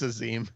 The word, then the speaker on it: Azim: Azim. Azim. No, it's Azim. I like saying it wrong. It's stuck. I think I read as Amis the first time, and then my brain just kind of went, doesn't sound right.